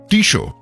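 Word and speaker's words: Tissot: আর হিতেশ কাকু বলল টিশো শেষের টি টা উচ্চারণ হয় না আমার এয়ার গানটা খুব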